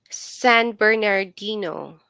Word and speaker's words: San Bernardino: you angelene how do you how do you pronounce that City again San Bernardino San Bernardino yeah never heard of it so